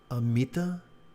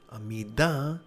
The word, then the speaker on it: Amida: and forgive my pronunciation, Amita, or as in Japan as Amida, different part of my tongue. One has a T, one has a D, blah, blah, blah.